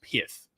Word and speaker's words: Pyth: and that's and that's pith pith pyth I think the official pronunciation for this is pith I just don't like that name so I'm G to call it pyth I'm calling it pyth that's that's what I'm